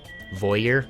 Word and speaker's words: voyeur: Voy is like joy, but with a V. And ear is... well, you're not wrong. Voyeur?